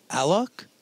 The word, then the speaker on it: Alok: Is it pronounced Alok? Yes.